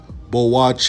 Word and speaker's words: Boakye: down next Enoch Bloch it pronounced bull watch a 6-10 240-pound big